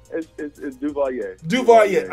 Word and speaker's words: Duvalier: Duvalier. Can you help me with that? help me with it here. It's Duvalier. Okay. He just told me, and I forgot that quickly. All right. Duvalier.